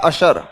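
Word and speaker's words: usher: N umbrella होता है एक वर्ड आता है यू एस एच ई आर इसका प्रोनंसिएशन होता है अशर कौन कौन आता है अशर?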